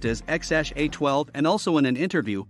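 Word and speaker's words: X Æ A-12: Grimes also stated that the name is pronounced as x-a-12 and also in an interview Elon Musk also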